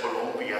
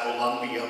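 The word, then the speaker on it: Colombia: He holds, and I know I should say Columbia, it's not Columbia, but it's got 2 O's in it, so if you spell it right.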